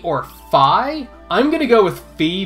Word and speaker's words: Fi: I cannot ever remember if her name is Fee or Fi. I'm gonna go with Fee because I think it sounds better. And that's also based on my knowledge of how the Japanese language works.